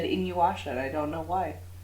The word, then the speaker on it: InuYasha: InuYasha.